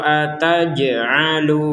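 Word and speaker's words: أتجعل: Qolu ataj'alu fiha. Ada jim sukun kita mentalkan atau kita dibaca dipantulkan. Maka ini enggak enggak mantul. Ini mantul. Ataj. Ataj. Tidak sekedar ataj ataj ya. Ataj ya. Tapi ada pentalannya.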